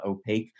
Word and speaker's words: Opaq: native security company called opaque OPA q is how it's spelled it's pronounced opaque smaller company actually it's